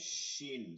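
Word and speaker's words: شين: 7 নম্বর মাখরাজ বলে উল্টা উচ্চারণ করলে হবে না, জিম শিন, সিন নাকি বাতাস শিন, শিন।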